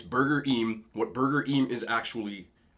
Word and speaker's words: Burgerim: Yes, it is pronounced Burger Em. People have said Burger, but I actually looked it up and I asked the employees. It's Burger Em.